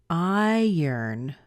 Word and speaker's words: iron: well not usually anyway if you look at the word I are o in and listen to it see what you hear I yearn I yearn now is that what you would expect to hear I would look at that word if I didn't know it and say I run I run in fact I think it sounds like I run but it actually isn't